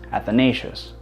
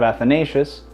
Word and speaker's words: Athanasios: In English, the word is pronounced Athanasios. My friends asked me why I went with Athanasios instead of Athanasius.